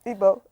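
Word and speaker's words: Igbo: The way it's pronounced is the I. This is the E. Then there's a GB. This is the B. E. GB O instead of but what you're pronouncing is IBO instead of IGB O.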